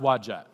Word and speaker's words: Wadjet: Scholars here none okay it's pronounced wadjet okay um and if I'm wrong then I'm wrong button I'm pretty sure it's that's how it's pronounced but but they believe